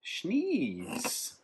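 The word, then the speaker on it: Schnee's: Schneeze. This is the Schneeze Knees from Bozeman, Montana. It sounds like you're sneezy.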